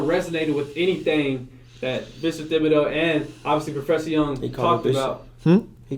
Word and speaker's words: Thibodeaux: Thibodeaux, I want to ask you, am I saying it wrong?